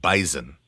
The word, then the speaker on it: Bison: You pronounce the S as a Z. Bison.